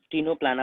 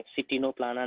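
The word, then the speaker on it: Ctenoplana: टिनोप्लाना pronounce करेंगे, सिटिनोप्लाना नहीं, टिनोप्लाना pronounce करेंगे, ओके।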